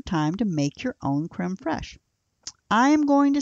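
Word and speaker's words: crème fraîche: um it is c-r-e-m-e-f-r-a-i-c-h-e but it is pronounced creme fresh that's similar to sour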